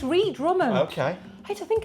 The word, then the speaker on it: Ree Drummond: We found I always get her name wrong. Ree Drummond. Dree Drummond? Yeah. Okay. Oh, is it? Am I saying it wrong? Oh no, it's it's Ree Drummond.